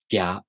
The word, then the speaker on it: Gya: Alright, let's take a closer look at how to pronounce Gya Gyu Gyo. To pronounce Gya, you first make the tongue position of the Gi sound. Then the tongue moves into position for the a vowel, gya.